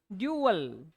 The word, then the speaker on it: duel: ठीक है, आगे देखते हैं अपने, सेम ही प्रोनाउंसिएशन है DUEL का भी, ड्यूअल।